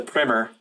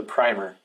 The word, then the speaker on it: primer: is just it's a primer. Now, I want to make a note. I looked up primer, and that's how you say it. I thought it was a primer, but it's kind of